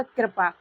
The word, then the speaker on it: कृपा: कृपा। यहां पर उसका उच्चारण करी नहीं हो रहा है। इसका उच्चारण क्या हो रहा है? कृपा।